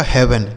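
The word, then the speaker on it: heaven: तो अगर ई ए के साथ क्या लिखा हो, ई ए का उच्चारण हम एक ही मात्रा भी करते हैं। ठीक है। तो इसे पढ़ेंगे dead, हेड, bread, health, हेवन।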